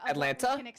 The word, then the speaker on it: Atlanta: I gotta tell them how to say Atlanta right that's how you know he's not from Atlanta Atlanta there's no T in Atlanta D Atlanta coming from